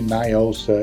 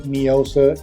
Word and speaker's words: NIOSA: what they're referring into NIOSA if somebody says neosa ignore them they're dumb they don't know